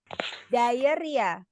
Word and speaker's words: diarrhea: Diarrhea. Diarrhea. Ya, so although we have O, ada huruf O-nya, tapi nggak usah dibaca ya. Kita bacanya diarrhea.